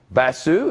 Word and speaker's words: Basu: Basu. Is that how you pronounce it?